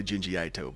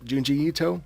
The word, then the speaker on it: Junji Ito: right jinji ito i almost wanted to say jinji aito but nah after hearing the man himself pronounce it i think junji ito i think that's what i'm going to go with uh glitzy corpse if